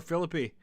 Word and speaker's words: Philippi: of the Civil War Philippi that is how it's pronounced uh let's catch up